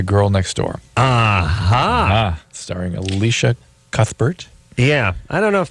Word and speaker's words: Cuthbert: I think it's better I think you don't do the thought whatever I think it's it's like cut bird oh really just I don't know I don't know if the the H is silent I don't know she